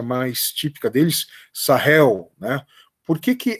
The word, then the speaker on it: Sahel: deserto do Saara é uma região conhecida como sael ou uma pronúncia mais típica deles sahel né porque que é importante refloresta ela mesmo